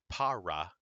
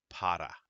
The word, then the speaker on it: para: In Spanish, there is not that hard R. Like, for example, this word in the middle, this is not para, it is para.